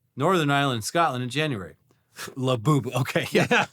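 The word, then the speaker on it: Labubu: Laboo. Okay. Yeah. Laboo. Not Lab. Not Not Labubba.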